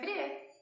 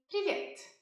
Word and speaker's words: Привет: Всем привет!